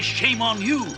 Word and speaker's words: Shamon: then once again using the shame on you I told you that's how it's pronounced to bring the gold